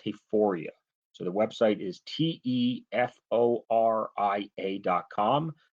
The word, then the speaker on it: Teforia: Yes, Teforia. Yes, absolutely, you pronounced it correctly.